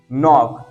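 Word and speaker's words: knock: example अगला आपके सामने नॉक तो के आया के बाद अनंत के का आवाज क्या हो जाएगा साइलेंट हो जाएगा जैसे नो ए एन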